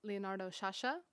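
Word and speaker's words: Leonardo Sciascia: Two here from Leonardo Sasha. I finally learned how to pronounce his name, an iconic Sicilian author.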